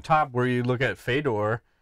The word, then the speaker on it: Fedor: His name is Fedor. It's pronounced A Fedor!